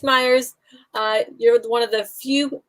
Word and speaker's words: Mayers: years no you guys see it right it's Myers you're one of the few people who actually